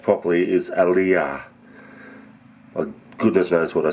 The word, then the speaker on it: Aliya: um correction on my pron iation this dish pronounced properly is alah I goodness knows what I said earlier but it wasn't aah that's what it's called all right I'll let